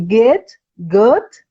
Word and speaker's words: Goethe: Goethe.